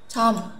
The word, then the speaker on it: 백화점: Thế thì cái từ này chúng ta sẽ không đọc là 백, hoa, som, mà chúng ta sẽ đọc là 백화점, 백화점, 백화점, được chưa ạ?